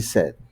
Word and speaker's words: said: Y cuando decimos la palabra decir en pasado, suena como la palabra set en español. Cuando quieres tomar algo tienes set. Así se dice. He didn't say hello. He said he said goodbye.